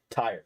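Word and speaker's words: Tyr: be a paladin of tier uh yeah but yeah for all as far as you guys know he's a paladin of tier Tire he's a paladin of Tire because that's how he pronounces it that's awesome get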